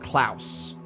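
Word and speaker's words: Klaus: and they pronounced it Clouse.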